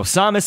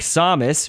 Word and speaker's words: Samus: Now, you hear me pronouncing her name, of course, like Samus, but her name has even been pronounced differently between a few of the Smash Bros. Games, by the announcer and some others. In Melee, I believe they pronounce it how I do, which was Samus, and I think in Brawl it was, the announcer says Samus.